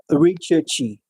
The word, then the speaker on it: recherche: The genesis of this word, the etymological derivation of the word research is from the French word referred to as recherche.